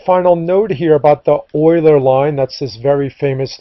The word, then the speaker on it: Euler: enjoyed the oiler line here the oiler line is spelled e u l r it's a little unusual so um that is a summary of the oiler line